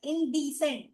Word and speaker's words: indecent: indecent it's not indecent indecent D के बाद वाला syllable has to be stressed yes coarse rough spotted